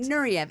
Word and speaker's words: Nureyev: Nureyev, that's how you pronounce Okay, it. Nureyev.